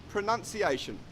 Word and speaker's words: pronunciation: four is pronunciation now it is incorrect to say pronunciation pronunciation the correct way that we pronounce this is actually as it is spelt so we say pronunciation I hope that you are finding this pronunciation video helpful the confusion lies because of the verb which is pronounced this has the our sound the pronounce but the noun is pronunciation it has the AA sound so you must practice